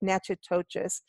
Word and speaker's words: Natchitoches: It's like Natchitoches.